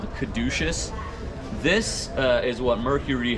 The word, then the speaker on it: caduceus: this yeah so that's um corrected me from pronouncing this wrong i believe it's called the caduceus this uh is what mercury holds himself but